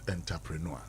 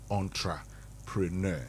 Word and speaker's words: entrepreneur: It is not entpreneur. Yeah. So if you want to say it right, entrepreneur. Yeah. Similar to enclave.